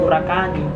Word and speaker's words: Purakani: Disebut Purakani karena sistem pelafalan kita bersifat silabis, jadi tidak mengenal sistem konsonan pada akhir.